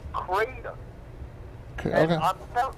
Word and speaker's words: kratom: And it's pronounced kratom.